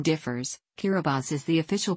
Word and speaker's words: Kiribati: of the tongue guru or Gilbert's chain the pronunciation differs Carabas is the official pronunciation as T in the